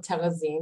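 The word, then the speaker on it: Terezín: today about television I'm going to call it terrazine which is check pronunciation we also call it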